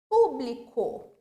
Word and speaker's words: público: Público. Publico. Notem que aqui o pu é a sílaba mais forte. Agora, por exemplo, se eu fizesse o quê? Tirasse esse acento agudo, ficaria publico, já fica totalmente outra palavra.